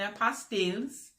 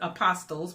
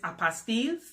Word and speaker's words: apostille: There's a tab that says Notary and Apostilles, or apostles. That's what everybody says, apostles, but the correct way to say it is apostilles and apostille.